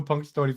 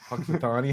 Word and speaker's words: Punxsutawney: you guys know who Punk story Phil is I don't yeah yeah but you're saying it wrong what is it Punxsutawney hey